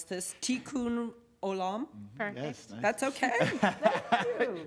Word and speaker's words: Tikkun Olam: Your mission to repair the world, I might mispronounce this, Tikkun Olam.